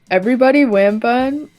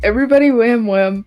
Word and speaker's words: Everybody Wham Wham: the house we've got everybody wambon why did I say it like that everybody wham wham by Bon Avon and